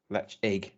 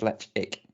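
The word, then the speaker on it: Ledaig: from isle of mall distillery toba mori lechig pronounced lech egg no on there this on their website says let's ick so sorry chris you've got it wrong is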